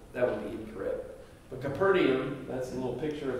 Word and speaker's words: Capernaum: Lord so Jesus came to Capernaum some people pronounce it capital that's the place right there almost nobody says Capital that would be incorrect but Capernaum that's a little picture of the archaeological site